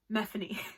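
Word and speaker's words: Myfanwy: really want to like methane i think that's how you pronounce it there's a whole explanation in the book where it's tiffany with an m so methane but o'malley's writing i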